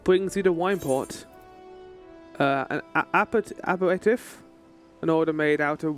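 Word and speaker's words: apéritif: And how do you pronounce it? Aperitif.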